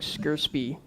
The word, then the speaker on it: scrcpy: really cool tool that's really hard to pronounce it's called s-c-r-c-p-y it's like squarespie oh it's on GitHub